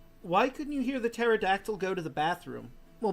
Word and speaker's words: pterodactyl: Why couldn't you hear the pterodactyl go to the bathroom? Well, because the P is silent.